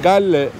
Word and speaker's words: Galle: İsmi Galle diye yazılıyor. Gol diye okunuyor.